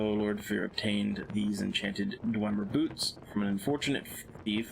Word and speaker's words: Dwemer: Or Dwemer. Not two E's. Let's say it right.